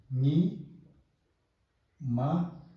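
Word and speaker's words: ཉི་མ: So it should be pronounced separately because we see a dot here. So nya kiku ni ma ni ma.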